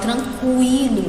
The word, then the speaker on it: tranquilo: Eu falo tranquilo, né? Eu passo até mais tempo aqui no U, tranquilo. Então eu pronunciei o U sim, se eu pronunciei, nesse caso aqui, ele não é dígrafo, certo?